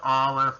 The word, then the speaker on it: Aleph: And the sound, of course, is ah. A lot of people try to tell you that Aleph is silent. It's not true. It has a sound.